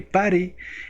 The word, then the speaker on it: PuTTY: Buenas tardes, bienvenidos a Programador Novato y en este tutorial vamos a aprender a utilizar PuTTY, que en realidad se pronuncia PARI.